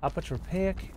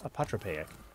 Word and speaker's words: apotropaic: Apotropaic element. Or perhaps it's pronounced apotropaic.